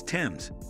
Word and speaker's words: Thames: The H is thus a learned error added in a mistaken belief that the Thames was derived from Greek. The spelling remained, but the pronunciation did not change. Therefore, the right way to say it is Tems.